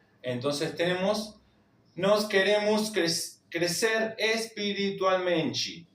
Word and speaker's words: espiritualmente: La t con la i se pronuncia chi. Entonces tenemos nos queremos crecer espiritualmenti. espiritualmenti.